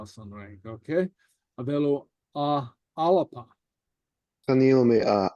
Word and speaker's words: Alba: Okay, avelu alapa. Canil mi a alba. Okay. Alba. Alapa, okay. Okay, I note that the B is pronounced like a P.